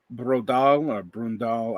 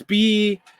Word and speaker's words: Braudel: theory of the French historians like Brundal. I don't know how to say the name. It's Braudel. Okay.